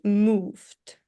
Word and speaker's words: moved: um you are sometimes pronouncing you know the words with ed ending uh like move it or experience it. You're like adding an extra letter which is not there or like we're not pronouncing it.